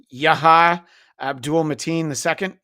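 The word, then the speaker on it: Yahya Abdul-Mateen II: Yah Abdul Matin II.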